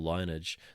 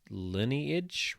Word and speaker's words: lineage: the bush his whole linage they aren't Marys though lineage he it's pronounced lineage Ruthie like you know not lineage lineage Ruthie whistles ins sincerely